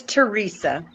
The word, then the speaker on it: Teresa: How do you pronounce it? It's Teresa.